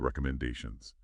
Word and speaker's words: recommendations: The recommendations. Pay attention to the rhythm. The stress. It falls on the fourth syllable.